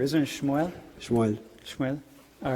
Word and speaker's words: Shmuel: How do you say it in Hebrew? Isn't it Shmuel? Shmuel.